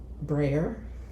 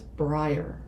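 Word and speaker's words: Breyer: I went breer or no I went um I went and pronounced it one way and he instantly corrected me. So what so Peter Stone was actually I called it. He says brier.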